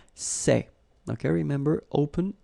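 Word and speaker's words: ces: same way all right for the plural form so masculine plural it would be say okay and then feminine plural good news it's the same so we've got one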